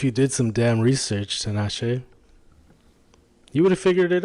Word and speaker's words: Tinashe: Oh, you pronounced that okay. That's hecka funny. Tinashe. That's good, though. You pronounced that well.